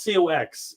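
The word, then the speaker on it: Cocks: By the way, it is not CO X. It is C O C Ks. Believe it or not, his name is spelled C O C Ks. That is actually how it's spelled. Chris Cox.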